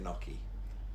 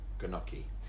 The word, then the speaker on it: gnocchi: I kept calling it gnocchi. Gnocchi. Actually, it's ny at the beginning, so like ny, gnocchi.